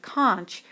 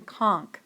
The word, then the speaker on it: conch: Note, although I myself prefer the pronunciation of conch, most dictionaries and professors prefer the pronunciation conch.